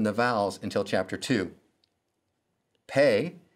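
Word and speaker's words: פ: vowels until chapter two pay sounds like the p in pastor sade sounds like the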